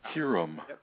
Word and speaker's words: Hyrum: of course we got hime Grange I'm sorry Hyrum hero Hyrum Hyrum it's it's if anybody knows that should be a long I it should be you